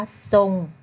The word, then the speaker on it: ทรง: ควบ กล้ำ ไม่ แท้ ท้อ ทหาร ควบ กับ ร เรือ นะ คะ ทอง พวก เรา ออก เสียง เป็น โซ่ ทร ปลาย เป็น ซอง นี้ นะ คะ เส้น คำ ว่า ทรง เขา มา ทราบ ทราย และ พุทรา ค่า ใบ ต่อ